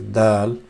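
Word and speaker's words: د: is soft D which is pronounced as dull and the sound is the for example if you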